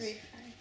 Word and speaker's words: Ralph: They're not gonna know who you mean when you say Rafe. He's the only person in the entire world, I'm pretty sure, that's called Rafe, even though it's spelled Ralph.